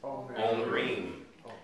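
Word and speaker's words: אומרים: Instead of omer, it's omrim. And then omrot for feminine.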